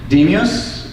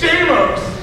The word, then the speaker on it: Demos: First, I want to give a shout out to Demios. Is that how you pronounce it? It's Demos!